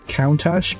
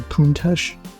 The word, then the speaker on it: Countach: I believe it's pronounced Countach. I always said Countach, but I was corrected quite recently that it's actually Countach.